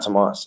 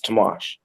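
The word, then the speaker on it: Tomáš: it I believe but it's not Tomas its tomash so European countries they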